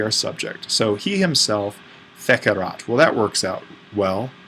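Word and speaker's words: fecerat: subject so he himself fekerat well that works out well that's a long e because this is coming from fakio fakare feiki and then factum those are the four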